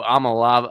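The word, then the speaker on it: Iamaleava: Nico Amalave.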